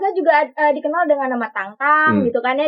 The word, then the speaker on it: Tintin: Nggak, kalau Tangtang itu kan sebenarnya pronunciation-nya aja ya. Kalau di Perancis kan memang Tangtang gitu judulnya.